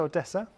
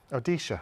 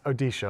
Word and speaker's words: Odisha: to go on to Odessa odisha sorry said Odessa uh no it's it's odisha I've been saying it wrong so dises here is